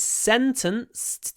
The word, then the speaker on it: sentenced: On will He was sentenced to 3 years in prison. Remember that um after a the d is pronounced t, so we get sen- sen- Something like that.